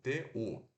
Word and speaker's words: two: ou são de dois o número dois que se escreve two como se fosse vó mas se pronuncia ter o de uva u t u tu tu esse aqui é